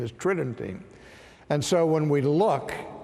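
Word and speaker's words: Tridentine: Tritton tain which sounds like it would be pronounced tri dentine but the normal pronunciation is Tritton T and so when we look to the conciliar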